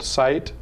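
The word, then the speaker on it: SciTE: use a free one it's called site and that's spelled s s-c-i-t-e just google that you'll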